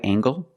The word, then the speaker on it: angle: is this a right angle that's right this is a right angle use the nasal plus the hard G angle angle this is a right